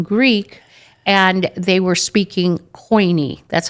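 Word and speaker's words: Koine: world was speaking Greek and they were speaking coiny. That's how it's pronounced in English. In Greek, it's kini.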